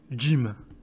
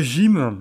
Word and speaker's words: gym: gaz bon bah voilà et Jim donc on dit Jim alors si on dit pas gym on dit Jim in